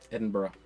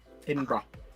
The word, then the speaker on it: Edinburgh: You know how you uh you know how you how you say uh the Edinburg Edinburgh. Edinburgh. Edinburgh. Edinburgh.